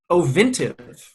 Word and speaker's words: Ovintiv: Ovintiv. Sorry. Ovintiv. It's like Otrivin. It's a nose spray.